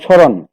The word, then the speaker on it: স্মরণ: যেমন প্রথমে আমরা লিখেছিলাম মফলা উচ্চারণ হয় না শব্দের প্রথমে যদি থাকে, যেমন স্মরণ শব্দটার মধ্যে মফলা আছে,